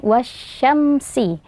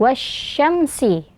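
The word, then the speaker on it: والشمس: Jadi alif lam shamshiyah di sini dibaca dengan menggabungkannya langsung ke sheen, wash-shamsu. Huruf sheen adalah salah satu huruf yang berasal dari tengah lidah, dan pengucapannya tidak ada hubungannya dengan bibir, kecuali jika berupa dammah. Jadi berhati-hatilah saat mengucapkan huruf sheen, jangan sampai menjadi "wash-shamsu" [dengan bibir membulat]. Jadi bibir kita sebaiknya tetap netral, wash-shamsu.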